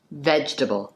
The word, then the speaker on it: vegetable: और वेजिटेबल नहीं कहते हैं, वेजिटेबल। लेकिन स्पेलिंग में तो VEGETABLE है। हाँ जी, लेकिन सेकंड ई साइलेंट होता है।